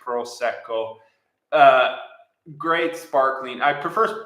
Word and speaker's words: Prosecco: I really enjoy Prosecco hopefully I'm getting the the pronunciation the r correct Prosecco uh great sparkling I